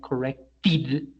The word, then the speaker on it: corrected: correct correct correct we we know that it ends in sound of T therefore the past form is going to sound like corrected correct present corrected past